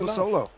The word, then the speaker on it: Abasolo: about this guest, Abasolo. Did I say it right, or was I close? Yeah, close Abasolo. Absolutely. A little soft on the O's.